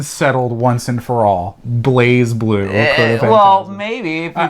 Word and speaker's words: BlazBlue: lot of people like myself like to call plays blu and way better it does but i got